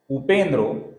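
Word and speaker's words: उपेन्द्रो: पहला नाम है उपेंद्र इस नाम में जो विसर्ग है इसके आगे व ये मृदु व्यंजन आने के कारण विसर्ग का ओ हुआ है आगे का नाम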